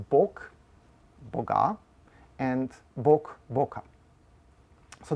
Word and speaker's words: bog: So in standard Slovenian, there is no contrast between words like bog, boga, and bog, boka. So they both pronounce as bog.